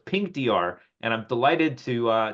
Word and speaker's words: Pinqdr: have the pronunciation correct I think it's pink Dr right it's not okay because I did I did pin QDR I'm like what does